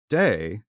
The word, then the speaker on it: Te: the way that's all it means the way day which is spelled t e Tau de Jing that word